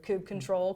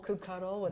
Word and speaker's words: kubectl: and K get pods, or kube control, kubectl, whatever person's pronunciation is.